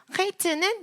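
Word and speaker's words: חית: 헤이는 뚫려 있으니까 헤이 뚫린 소리가 나고요. 헤이트는 붙어 있으니까 처음부터 헤이, 그리고 끝에도 닫힌 발음으로 트라고 해서 외우시면 돼요. 헤이는 뚫려 있고 헤이트는 닫혀 있다.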